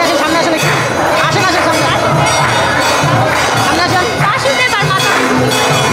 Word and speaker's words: বসুদেব: নাম হচ্ছে বাসুদেব বাসুদেব এটা কিন্তু ভুল হইছে ভালোভাবে বলেন না বাসুদেব বাসুদেব এটা মানে কাছাকাছি গেছে কিন্তু উচ্চারণটা ভুল হইছে বাসুদেব হবে না বসুদেব হবে বসুদেব বাসুদেব হচ্ছেন ভগবান শ্রীকৃষ্ণ স্বয়ং আর তার বাবা হচ্ছেন বসুদেব তাইতো তো বসুদেব আর